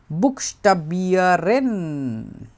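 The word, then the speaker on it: Buchstabieren: ওইখানেও আমাকে জিজ্ঞাসা করেছিল বুকস্টাবিয়ারেন, বুকস্টাবিয়ারেন, বুক, তারপরে স্টা, তারপরে বি, তারপর আর এন, বুকস্টাবিয়ারেন।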